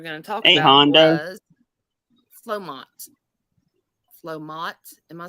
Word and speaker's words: Flomot: time we were going to talk about Hondas flomots flomots am I saying that right flomont yeah